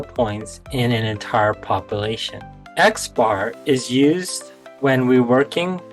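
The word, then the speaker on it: x̄: of observations or this symbol here is going to be pronounced as xar and this other symbol here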